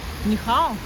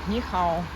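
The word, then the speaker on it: 你好: Нехао. Да. О, сейчас мы кому-нибудь знал. Нехау. Нет, сейчас я буду всем говорить нихау.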